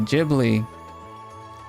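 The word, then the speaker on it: Ghibli: Jibli movie is how we talk.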